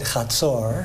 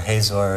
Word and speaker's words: Hazor: Kent, this is what I pronounce it Chatzor. Yeah, Chatzor, Hazor is the traditional way.